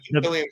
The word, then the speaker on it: Cantillon: The Cantillon effect, the Cantillon effect, where No, the Cantillon effect, you said it right.